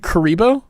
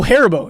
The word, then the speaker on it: Haribo: Like You said Karibo? Haribo? Like the Yu-Gi-Oh monster? Haribo. I don't know how to say it. Oh, Haribo.